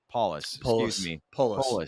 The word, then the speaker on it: Polis: provided by Colorado governor Jared Polis am I pronouncing his last name correctly is Apollos paulus you got it right yeah um he's indicating